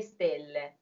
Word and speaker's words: stelle: The word for stars in Italian is an accented E that's closed, right? So accented syllables in Italian, you must memorize them. There are some formulas, but you have to know every single word. You have to know exactly whether it's open or closed.